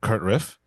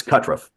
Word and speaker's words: Kutruff: I am joined here today by a very very special guest uh Kurtriff. Uh am I pronouncing that correctly? It's Katruff. Katruff, who is a filmmaker, but also a a a veteran who's got many many accolades.